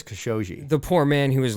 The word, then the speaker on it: Khashoggi: I know everybody pronounces so many different ways. I've heard it a lot now, and I believe it's Khashoggi.